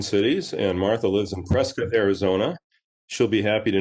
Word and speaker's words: Prescott: in the twin cities and martha lives in prescott arizona she'll be happy to know that i pronounced prescott correctly she taught me to do